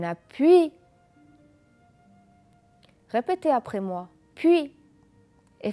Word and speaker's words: puis: Puis. Et faites attention que le S ne se prononce pas. On a suis. Encore le S ne se prononce pas. Je dis puis et je dis suis.